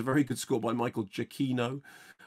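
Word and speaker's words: Giacchino: of those things that michael i always pronounced his name wrong and actually if you look at michael jacquino's twitter account it actually says this is how it's pronounced um very good by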